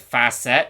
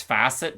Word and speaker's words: facet: and that's the timeout I don't know why I pronounced it fast set it's facet I'm sorry okay I'm